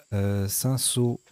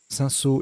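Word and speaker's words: cinsault: Son anagramme cinceau, c'est un cépage me semble-t-il. Voilà, il s'écrit aussi avec un L.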